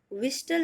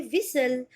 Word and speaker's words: whistle: Now this word WHISTLE, विस्टल नहीं, आप इसे बोलोगे विसल, और विसल मीन्स होता है सीटी बजाना।